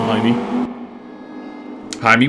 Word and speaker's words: James: call it my me Jaime works I was always thrown off by that the that Thomas Rodriguez his first name is James and that's just how they pronounce it Columbia apparently hey man I